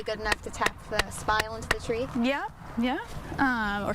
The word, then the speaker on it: spile: We're going to take our next tool is going to be our spile. Kind of rhymes with smile, just with a different letter in the middle.